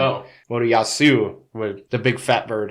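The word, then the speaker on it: Motoyasu: Moriyasa. Yeah, Moriyasu. There's a U at the end. Oh. Moriyasu, with the big fat bird, as he would call her.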